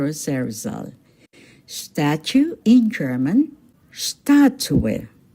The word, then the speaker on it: Statue: Statue in German, Statue. Take note, the stress is on the first syllable, Statue.